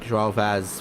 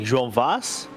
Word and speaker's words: João Vaz: Yeah, it's got a tilde in it, and it's got IVRA, so that's a little more your wheelhouse than mine. Yeah, for those non-native Portuguese speakers like myself, it's kind of like João Vaz or something like that.